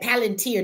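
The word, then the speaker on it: Palantir: PL man said palenteer.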